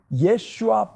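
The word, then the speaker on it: ישוע: 히브리어로 그의 이름은 예슈아 벤 요셉입니다.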